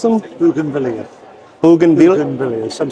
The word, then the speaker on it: bougainvillea: How do you pronounce them? Bougainvillea.